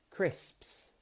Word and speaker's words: crisps: So that's the STS sound, but there's also another slightly annoying sound which involves two S's at the end of a word, and this is the PS. SPS. Now, I want you all to just take a second and say the word crisps.